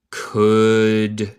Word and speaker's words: could: He could, no se dice el L aquí, es muda, see.